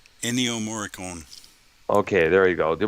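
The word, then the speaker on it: Ennio Morricone: morte was it was that his last name pronounced enio moricon okay there you go there was a tribute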